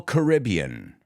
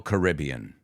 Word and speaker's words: Caribbean: are number one Royal Caribbean there are people who say Caribbean and Caribbean but in the case of the company it's always Royal Caribbean they have 28 cruise